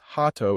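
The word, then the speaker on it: ハート: For example, heart becomes hato in Japanese.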